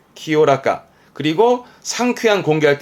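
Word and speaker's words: 清らか: 나 형용사로서는 키요라까, 키요라까.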